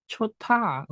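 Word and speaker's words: 좋다: Jadi dibacanya Chota. Betul, Chota, Chota.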